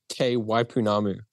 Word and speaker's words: Te Waipounamu: I'm not even going to try to pronounce it. So what is it called? You say it. So it's Tour Te Waipounamu.